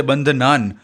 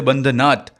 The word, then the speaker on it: बंधनात: बंधनान, सबसे पहले तो यहाँ पे संधि का नियम लागू पड़ता है, इसलिए मंत्र उच्चारण के समय इसे बंधनान, नान पढ़ना है, और अर्थात समझते समय इसे बंधनात, नाट पढ़ना है।